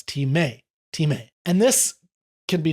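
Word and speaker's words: τιμή: It's pronounced Timē, Timē, Timē. And it's often spelled in the transliterated version like time, T-I-M-E with the mark over it, but it's Timē, Timē. Usually the emphasis is on the may, so it's Timē, Timē.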